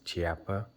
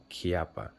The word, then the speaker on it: Chiappa: what I found out people do pronounce this cha but the maker himself if you look him up he does pronounce this name kppa so this is how